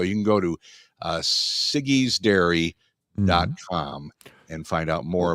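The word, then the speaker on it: Siggi's: or Sig's Dairy s how would you pronounce this s i GGI apostrophe s siggies Dairy Sig sigy I think yeah okay uh they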